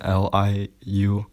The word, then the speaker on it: Liu: Well, IU is a bit strange. It's like yo. So like the common last name LIU is pronounced Liu.